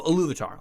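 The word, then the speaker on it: Ilúvatar: So Iluvatar.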